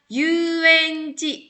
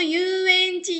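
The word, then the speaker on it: 遊園地: Ini ketemu sama kanji lagi, jadi dibacanya yu ya. Bukan asobu lagi ya, tapi dibacanya yu.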